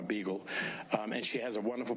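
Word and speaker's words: Beegle: Her last name is spelled with all E's. Of course, there's a B, a G, and an L, but it's B-E-E-G-L-E, Dr. Donna Beagle.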